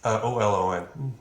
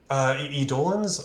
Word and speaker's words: eidolon: How do you spell that? EIDOLON.